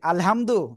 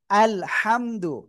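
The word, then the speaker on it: الحمد: সঠিক উচ্চারণ কি? আলহামদু না। আলহামদু।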